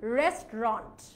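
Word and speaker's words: restaurant: The correct one will be রেস্টুরেন্ট, the correct one is rest আর তারপরে রন্ট। তাহলে এই অটা কোথায় গেল? এই অটাকে আমরা উচ্চারণ করি না।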